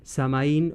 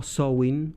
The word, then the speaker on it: Samhain: hizo interesarme particularmente en samaín o soin un término que voy a usar intercambiable porque es lo mismo soen es la pronunciación gaélica irlandesa de samaín samaín es como le llaman